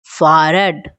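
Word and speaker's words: Fahrrad: Cycle को "फ़हर्राड," "फ़ह्रद," "फ़ह्रद," " फ़ह्रद," ठीक कहा जाता है।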